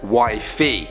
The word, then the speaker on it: Wi-Fi: My husband's nickname for me is Wi-Fi, but pronounced Wi-Fi.